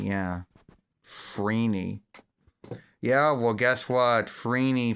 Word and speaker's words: Phryne: It's spelled Phryne, which I guess would be Freen, or Freeney, I guess. Or Freeney, or Freeney, I guess. I don't know. Frine. What the F in it? No, Freeney.